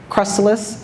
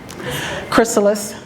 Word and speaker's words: chrysalis: And then he transform into his cryalis. Is that how you say it? Chrysalis.